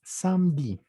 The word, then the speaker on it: samedi: Los sábados se llaman samedi. ¿De acuerdo? Samedi. La E no se pronuncia. Entonces simplemente samedi.